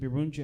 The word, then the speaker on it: Birungi: He looks down, looks up, and he's like, oh, Birungi, right? Is that how you say it? Birungi?